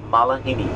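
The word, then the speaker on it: malihini: How many syllables? Malahini. Syllables? 4. Malahini. Okay, the word is pronounced Mala and then Hini.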